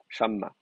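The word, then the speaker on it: שמה: euh, et donc, effectivement, vous pouvez garder le kamet parce que la syllabe est accentuée. Shamma.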